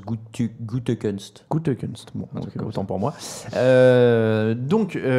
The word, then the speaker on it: Gutekunst: J'ai lu un tweet qui disait que ça se prononce Gutekunst.